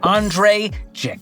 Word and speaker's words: Andrei Jikh: the one and only Andre ji the I is silent the H is silent and as Lil Wayne